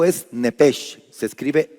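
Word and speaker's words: נפש: Entonces, para los que anotan, para los que anotan alma en hebreo es nepes.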